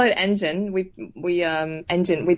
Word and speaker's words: N*GEN: for next generation but we like to pronounce it uh like engine the car engine that moves yeah or any engine